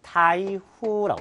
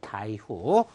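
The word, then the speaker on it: 台風: 태풍을 뭐라고 합니까? 그렇죠. 타이후라고 합니다. 타이후. 그 다음 조금 어려운 단어가 되겠습니다.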